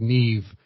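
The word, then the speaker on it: Niamh: Like Neve is spelled N I Mh.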